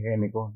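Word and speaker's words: Gnecco: Importante pregunta porque Germán Samper Ñeco, se pronuncia Géneco, Ñeco, fue uno de los arquitectos más importantes que ha habido en la historia de Colombia.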